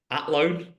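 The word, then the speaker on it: Athlone: She hails from Atlloan in Ireland. Did I say that right? Don't pronounce the H.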